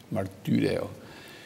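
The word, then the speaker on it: μαρτυρέω: Es esta U francesa que nos enseñaban que hay que pronunciarla como U, martureo.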